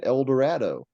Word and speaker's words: Eldorado: people around him so instead of saying El Dorado and Shadow he would probably said Eldorado and Shadow yeah El works there absolutely it was very